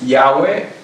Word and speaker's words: Yahweh: Verdaderamente el nombre, en inglés le llamamos Yahweh, yo sé que en español le llaman Yahvé, es solamente la pronunciación de la letra. Una de las letras puede ser como una W, como una V, entonces es más la